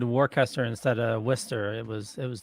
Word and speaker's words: Worcester: It's people separate the syllables incorrectly when they look at the word. They're looking at it as Worcester. Yeah. But you actually have to separate it after the CE. So it's Worcester.